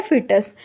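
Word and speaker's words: fetus: हम क्या बोलते हैं, फिटस बोलते हैं। इसकी प्रोनाउंसिएशन होती है फिटस।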